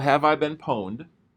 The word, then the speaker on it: pwned: There's a website called Have I Been Poned? And PWNED is how they spell it.